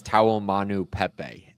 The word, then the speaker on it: Taumanupepe: pretty similar to that I think it's taom Manu Pepe is how you say his last name but either way I